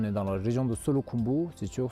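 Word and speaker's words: Solu Khumbu: On est dans la région de Solo Kumbu. C'est sûr, Solo et Kumbu, c'est dans la même région, mais on prononce en deux mots.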